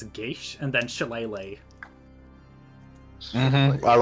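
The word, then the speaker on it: geas: Technically, because this isn't code GS, you would use the traditional Gaelic pronunciation of it, which is Gish.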